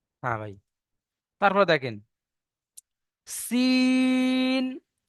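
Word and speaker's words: سين: Scene. আর যেখানে নোক্তা আছে সেটাকে কি বলবো? শিন। তিনালি টান দিয়ে সিনটা সিটি পাতলা আওয়াজে বার করতে হবে, আর শিনটা মোটা আওয়াজে। শিনের উচ্চারণ হয় জিভের মাঝখান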